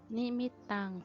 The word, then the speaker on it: นิมิตตัง: ด้วย กัน นะ คะ เรื่อง แรก ก็ คือ นี่ มิตตัง สาธุ รูปานัง กตัญญู กตเวทิตา นะ คะ อ่าน ว่า